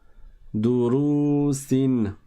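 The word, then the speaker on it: دروس: Et on fait attention à ne pas prolonger la première syllabe, étant donné qu'il n'y a pas de prolongation après le del. Il y a juste une dhamma. Durusin. Et donc, on ne dit pas durusin. Ça n'est pas le même temps entre la première syllabe et la deuxième syllabe.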